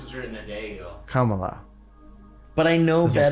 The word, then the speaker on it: Kamala: Saying technically it's not Kamala. It's not Kamala? Then what is it? It's never what the majority of white people say it is. That's what I've learned. Kamala. Is it Kamala? If you went by like Hindi pronunciation.